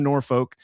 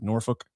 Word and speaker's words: Norfolk: Like Norfolk. You got to say it like really fast. You don't want to Norfolk.